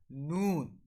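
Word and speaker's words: ن: So the method for pronouncing noon is when the edge of tongue touch the gum of upper canine one side to the upper canine on the other side.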